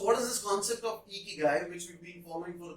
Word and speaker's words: Ikigai: is a Japanese concept called Ikigai. At least that's how I pronounce it. The Japanese might pronounce it differently.